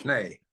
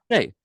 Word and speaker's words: Schnee: So Bill Schnee, that's the proper pronunciation of your name, correct? Schnee, yeah. Schnee.